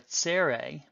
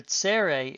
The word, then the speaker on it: tsere: Secondly, you can have a tsere. A tsere is written as 2 dots underneath the letter. This is a long E sound, the E as in they.